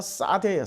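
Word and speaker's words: שָׂדֶה: 근데 이 들이란 단어가 싸대예요. 싸대. 자, 들에서도 복을 받는다. 싸대기 때린다는 싸대가 아니고 발음이 싸대라는 거예요.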